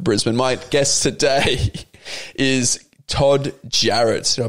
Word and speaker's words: Todd Jarratt: my guest today is todd jarrett should i pronounce that right yeah let's go oh it sounds like it's spelled the amount of names